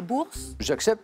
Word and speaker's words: Boers: Les Boers, les Bourses. J'accepte. Ça se dit Bourg, mais ça s'écrit Boer.